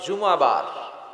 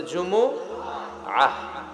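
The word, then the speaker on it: جمعة: অনেকে বলে ফেলে জুমা, জুমা। আসলে আরবিতে শুদ্ধ উচ্চারণটা হচ্ছে জুমুআহ, সূরাতুল জুমুআহ।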